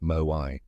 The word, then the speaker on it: moai: Okinawans have lifelong social networks called moai, pronounced moai.